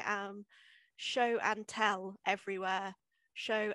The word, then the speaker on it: Sio: Show, S-I-O for show, underscore and underscore tell, because that's how that's my way of letting people know how to pronounce show.